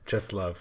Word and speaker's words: Czesław: Czesław Miłosz. What did I say? Czesław.